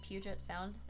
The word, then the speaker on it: Puget Sound: i think i did right puget sound is how it's pronounced inland sea live on